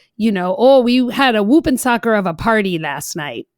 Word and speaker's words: Whoopensocker: You call it Whoopin' Soccer. I'm not sure I'm pronouncing that right. You got it. Tell us about Whoopin' Soccer. Sure. So Whoopin' Soccer, WHOOPENSOCKER.